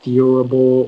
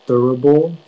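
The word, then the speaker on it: thurible: hi hi all right uh your word is adorable adorable can you give me all the information yeah so it can be pronounced durable durable or durable it's a noun and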